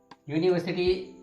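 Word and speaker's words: university: लेकिन जब हम इसको लिखेंगे, प्रोनाउंस करेंगे तो ये प्रोनाउंस हो रहा है य से, य, तो य तो कॉन्सोनेंट होता है, ओके।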